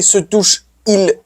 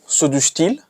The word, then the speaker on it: se douche-t-il: But you can't say se douche-il, se douche-il. It doesn't sound fine. So what we do is put a T in between as a buffer to make pronunciation smoother and easier.